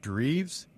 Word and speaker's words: Dreves: today I have a another special guest Heather dreves is that the correct pronunciation Heather that's correct good job and she's